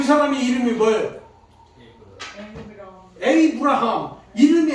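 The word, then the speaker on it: Abraham: 에이브라함. 이름이 에이브라함. 아브라함의 아브라함. 아브라함을 영어 발음은 에이브라함.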